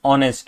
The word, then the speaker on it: honest: Okay because uh because you know although the word is h but the pronunciation is honest which is o right.